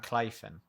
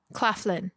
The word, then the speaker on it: Claflin: And Sam Clifton. Claflin. Claf. Claflin. Yeah, I always pronounce it.